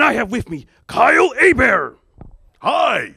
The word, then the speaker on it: Hebert: a beer and that rhymes with Care Bear it kind of does I mean III give kudos to you serve for for pronouncing my name correctly a bear h-e-b ERT it's not Hebert it's not Herbert it's a bear I'm from Louisiana originally